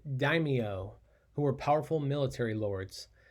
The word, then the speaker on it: daimyo: territories were run by that word is pronounced daimyo who were powerful military